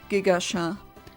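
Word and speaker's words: Gigachat: I would call it Gigacha. As in Gigachad, but instead of the D it's a T and pronounced as the French name or not the French name, the French word for cat chat.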